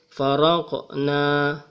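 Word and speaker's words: فَرَقْنَا: Huruf qof ini berada di tengah ayat, jadi dibaca faroqna. Jangan membacanya sebagai faroqna, dan memang seharusnya tidak dibaca sebagai faroqna. Sebaliknya, getaran suara tersebut kecil. Farqna.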